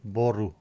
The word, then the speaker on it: borg: druidic not emojis and borg in Danish is pronounced boru did Portugal win I